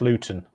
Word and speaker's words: Luton: not a good area it's pronounced luten luten oh it's pronounced oh